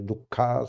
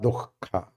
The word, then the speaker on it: दुःख: Some people do not pronounce that Visarga. They pronounce wrongly. Dukkha, something they pronounce. You have to bring out that Hakara, Dukkha. That Jeffa Muliya has to come out.